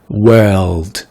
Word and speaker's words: world: C'est pas le son wo. Même si ça s'écrit W-O, c'est le son world, ok?